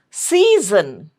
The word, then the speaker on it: season: School, season, season. This is C and this is Z.